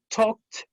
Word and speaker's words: talked: Talked.